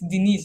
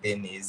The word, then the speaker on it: Denise: You are Dennis. Yeah, it's Denise actually.